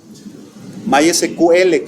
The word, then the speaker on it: MySQL: My SQL que le dicen, por ejemplo, se pronuncia en inglés Mysql, así se pronuncia, ¿no?